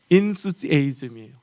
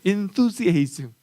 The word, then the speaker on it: enthusiasm: 그 중에서 아주 어려운 단어가 뭐냐면 enthusiasm이에요. 발음도 힘들어요. 번데기가 들어가요. enthusiasm.